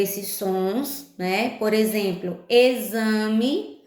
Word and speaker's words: exame: Por exemplo, exame, a gente escreve com X, mas esse X tem um som de Z, né?